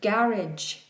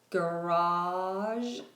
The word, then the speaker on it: garage: Chef Excellence has asked for the pronunciation of garage. In American English, garage is garage, garage. But in British English, it's garage, garage, garage.